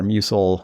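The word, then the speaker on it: musl: I think one of our decisions really early on was Alpine is great in many ways and, uses the muscle or musil, depending on how you pronounce it.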